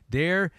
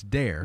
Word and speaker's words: der: our friend in Germany, Der Beobachter. Der Beobachter. We learned how to say it. You think so? You think you said that right? Yeah. It's not der, it's dare.